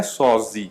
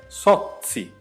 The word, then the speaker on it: Sozzi: Meu sobrenome não é Sozzi. Você lê Sozzi, mas a pronúncia é Sozzi ou Sozzi.